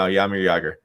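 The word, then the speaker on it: Jaromír Jágr: You don't pronounce the J's right? No, Jaromir Jagr.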